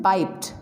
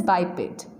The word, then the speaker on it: biped: Many people pronounce it biped, but the correct pronunciation is biped.